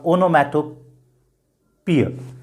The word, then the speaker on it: onomatopoeia: त्याच्यानंतरची पुढची figure of speech अनोमटोपिय किंवा ओनोमॅटोपिय. खरा उच्चार आहे त्याचा ओनोमटोपिय. लक्षात घ्या, ओनोमटोपिय. स्पेलिंग खूप विचित्र आहे. ONOMATOPOEIA, पण त्याचा उच्चार काय? ओनोमटोपिय.